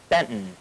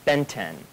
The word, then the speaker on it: Benton: the proper pronunciation of how you actually say Benton and not Benton the T is actually silent because it's Old English so I love telling